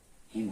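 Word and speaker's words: hymn: ये आपका हिम हो गया, हिम हो गया। ये आपका एन साइलेंट हो गया।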